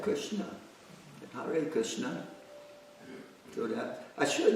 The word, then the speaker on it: Hare: Hare, which most people can do, although a lot of them will say Hari. That's great. It's fine.